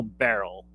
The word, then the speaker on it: Beryl: You go on this journey with this girl Beryl, and that's Hmm. like literally in her name. It's spelled like Cheryl, but with a B.